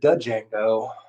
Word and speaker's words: Django: my dad calls it django the d is silent uh like if kill